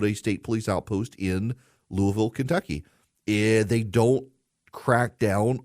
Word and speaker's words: Louisville: my proper pronunciation Louisville Louisville sounds like I got marbles in my mouth Louisville Louisville Kentucky Louisville Louisville